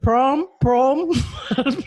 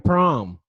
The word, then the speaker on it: PRØM: It sounds like the U in the word burn. So, PRØM. I want to say it like that. Yeah, just drop off. It's like Stewie Griffin saying prom.